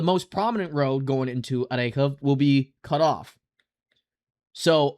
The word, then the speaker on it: Orikhiv: And yes, before I again, um, go any further, I used to say Orikhiv or Orkhiv. Well, apparently the correct way to pronounce this town's name is Orekhov or Orekhiv.